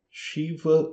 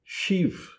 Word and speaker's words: Shiva: Se você está querendo pronunciar o nome em sânscrito, então é chiva e ganexa. Mas se você estiver querendo pronunciar em rinde, que é um idioma atual na Índia, um dos dos muitos idiomas atuais da Índia, então você vai falar Ganesch e Shiv.